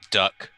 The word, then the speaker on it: dirk: they're dirty Dirk or is the Scottish call it a duck Doug yeah they pronounce it duck it's silly really yeah